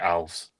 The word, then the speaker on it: Alves: They um they did a they did one of these things G on uh Instagram where they asked him how to pronounce the name pronounced it ALS.